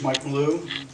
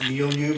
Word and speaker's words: Malou: My name is Mike Malou, actually pronounced Milieu, but I'll never train any of you.